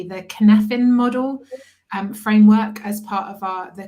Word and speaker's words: Cynefin: And it's interesting because we've been looking at I have to pronounce this correctly, the Cynefin model framework as part of the coaching course at the moment, which looks at the VUCA element.